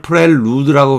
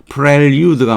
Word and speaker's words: prelude: 자, 우리가 prelude, 이 발음을 prelude라고 발음하면 안 됩니다. 저도 이제, 고등학교 처음 배웠을 때 이제, 듣기로 배우지를 못했기 때문에 저 세대에는 그래서 prelude로 배웠어요. 근데 prelude가 맞아요. prelude. pre는 앞이라는 뜻이고 루데르가 장난치는 거잖아요.